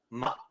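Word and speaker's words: 妈: but it is so your first tone is a long flat vowel that's one so that sounds like ma excuse me ma ma you notice the a stays flat and even throughout the end ma that is the character for mother ma means mom your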